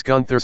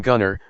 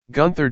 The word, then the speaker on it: Gunther: Bivens goes on ripping into Imperium, and gets Gunther's name wrong by calling him Gunner, but the music interrupts and out comes Gunther, Eichner, and Barthel. Gunther corrects Bivens for saying his name wrong, and says Bivens will